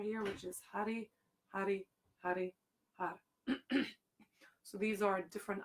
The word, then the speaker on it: Har: which is Hari, Hari, Hari, Har. So these are different aspects of creative energy, and then Har at the end, if you can roll your R, Har.